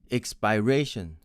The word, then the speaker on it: expiration: th next is e-x-p-i-r-a-t-i-o-n my friends from india tend to pronounce it as expiration expiration with the vowel of